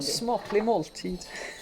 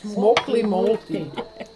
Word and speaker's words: smaklig måltid: Smaklig måltid. Smaklig måltid. Well, it's not that hard to pronounce, but to remember.